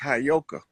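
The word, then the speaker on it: heyoka: I I know you that word is properly pronounced hayoka.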